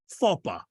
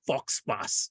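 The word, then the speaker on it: faux pas: would be covering is fopa it's written as f-a-u-x-p-a-s and it's one one of the most mispronounced words in common usage fox pass is how people normally pronounce it Faba means a goof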